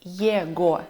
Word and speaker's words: его: Если вы видите сочетание ЕГО или ОГО, то буква Г превращается в звук В. Например, ЕГО мы будем читать, произносить как его.